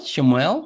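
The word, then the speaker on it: שמואל: de ah de shemuel shemuel no se dice en hebreo shemuel no Y así se escribe shemuel no Y tenemos shemuel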